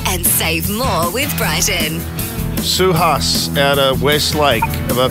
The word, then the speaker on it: Suhas: Suhas out of Westlake. Have I pronounced that correctly?